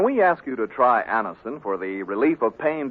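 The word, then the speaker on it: Anacin: the result ask your druggist for Anison today Anison is spelled a n a c i n listen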